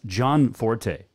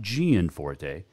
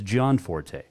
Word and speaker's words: Gianforte: and greg john forte will join us yes john forte according to his facebook that is how you pronounce it it is not gianforte it is john forte so we'll talk to uh the governor elect